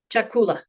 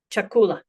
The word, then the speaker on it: chakula: Our next combined sound is cha as in the English cheek not chemist. For example, we have cha chakula chakula chach chach.